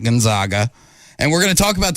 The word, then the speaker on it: Gonzaga: the bulldogs of gonzaga it's proper way to say it gonzaga not gonzaga and we're gonna talk